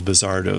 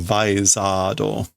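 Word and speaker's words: ヴァイザード: guy and the whole Vizardo thing or whatever that's supposed. Yeah. Vizardo da. It's the Vizardos. And I'm going to keep pronouncing them really badly with that Vizardo. I guess it's actually Vaizado. Vaizado.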